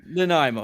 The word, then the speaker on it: Nanaimo: Nanaimo.